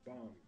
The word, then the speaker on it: bomb: On prononce pas le B à la fin. Le B qui est précédé d'un M est silencieux.